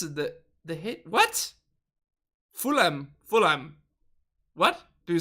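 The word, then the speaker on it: Fulham: is silent and fool him what the hitch is silent FHA FHA what full full full aim full aim oh I'm saying it wrong full aim full full what is it the the hit what fulam fulam what do you say it like that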